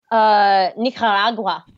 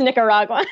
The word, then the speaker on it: Nicaragua: Nicaragua, as he says, but it's Nicaragua. That is correct, in the correct pronunciation.